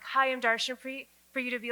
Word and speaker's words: Darshanpreet: Darshanpreet, 12 letters, 3 syllables.